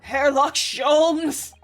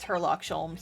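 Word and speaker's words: Herlock Sholmes: like a cheshire cat that hairlock shomes it's it's actually just herlock sholms he's english i've since found out that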